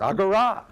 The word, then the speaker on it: agora: me don't i know the final alpha is accented in greek and i check with